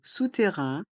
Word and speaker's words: souterrain: souterrain le passage souterrain dans le mot souterrain il y a deux sons le son ou et le son 1 les voyelles o et U font le son ou sous et les lettres A i n font le son un Rin sousterrain le passage sous terrain le